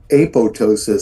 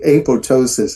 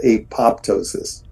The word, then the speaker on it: apoptosis: told me that this word apoptosis is actually pronounced apotosis so the first p is Island have any